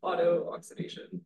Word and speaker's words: auto-oxidation: I was just like trying to pronounce this auto-oxidation. Auto-oxidation. The two O's were tripping me up.